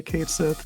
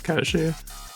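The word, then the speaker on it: Cait Sith: A lot of people will be incorrect and just to say Kate Sith, but now the actual like Gaelic is Kashi.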